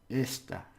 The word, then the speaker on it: esta: So the stress for this one is on the first syllable. This is, right? And this means this one, or this thing. Esta.